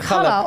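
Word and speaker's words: challah: Or is it chala? Kala. It's spelled chala, isn't it? C H A L L A H. Yeah. Yeah. But you say Kala bread. Now, hala bread is a famous Jewish bread.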